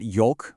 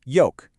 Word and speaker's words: yolk: When talking about the yellow part of an egg, it is not yolk with an L sound. The L is completely silent. It's pronounced yolk.